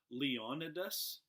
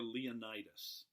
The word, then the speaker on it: Leonidas: There were 300 Spartans, and they were led by their king, and I've heard it pronounced two ways, Leonidas or Leonidas. I tend to go with Leonidas.